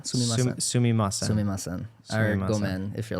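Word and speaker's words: ごめん: gomen if you're like super or like casualer.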